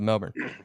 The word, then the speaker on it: Melbourne: yeah that's where I that's where I live Melbourne Cape canaville so they pronounce it Melbourne there yeah so it's funny